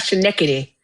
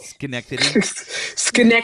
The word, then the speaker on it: Schenectady: What about Schenectady? How do you say it? Schenectady. Schenectady.